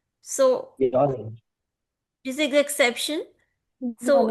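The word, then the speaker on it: よにん: Similarly, yonin mein like yon n is not pronounced. The last n is not pronounced. So Yonin.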